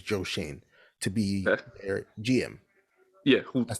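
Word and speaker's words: Schoen: the giants are interviewing joe shane or it's spelled shone but his name is joe shane to be gm yeah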